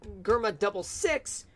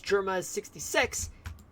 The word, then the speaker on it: Germa 66: Thus members of the Vinsmoke family as part of Germa6 or I would rather pronounce as Germa 66.